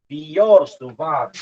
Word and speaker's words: Biot-Savart: This is also not pronounced as Biot-Savart law. It is pronounced as Biot-Savart. This one is a French.